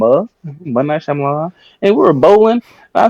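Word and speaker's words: M. Night Shyamalan: then J was like I think it's pronounced ight shamalan he was like no he pronounced it m that's how you pronounce it it's m m night shamon and we were bowling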